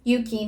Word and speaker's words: ゆ: For example, the character U in my name, Yuki no Yu, this Yuki no Yu sounds like you, right? You.